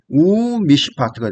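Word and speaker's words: וּמִשְׁפָּט: 무 무시파트 무가 나오기 때문에 바브가 우로 발음을 해서 슈렉의 효과라 그랬죠. 우미시파트가 됩니다.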